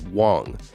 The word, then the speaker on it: Wang: FTX co-founder Gary Wang, now those are two different ones if you're not understanding the pronunciation. One is Huang and one is Wang.